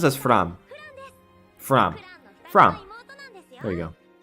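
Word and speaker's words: Framme: Fram. I mean, she pronounces as Fram.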